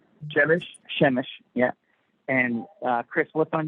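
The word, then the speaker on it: Przemyśl: Shemish, yeah.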